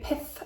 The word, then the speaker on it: Pith: This is a Pith sketchbook. That's one to pronounce very carefully. Pith, P-I-T-H.